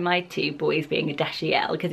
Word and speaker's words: Dashiell: to pronounce it, and it is Dashiell. So you pronounce the middle bit quite strongly, but most people think this is Dashiell.